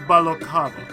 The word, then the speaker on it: Balocava: Also pronounced Balocava or Balocava? It's pronounced Balocava.